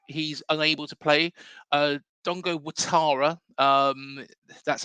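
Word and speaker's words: Dango Ouattara: you know if he's unable to play uh Dongo watara um that's how it's pronounced it's that it's actually spelled Dongo orara um but it's Dongo watara um so anybody wants correct pronunciation I think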